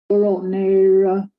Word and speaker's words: rotnera: Rotnera. Nera. Good. Nera. Some sounds are just easier. Yeah. So there we have the single R. That's that English R. It sounds just like English, right?